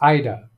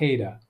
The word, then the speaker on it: Ida: Ken, the pronunciation is Ida, not Ada. Ida, like Idaho. It's not Ada.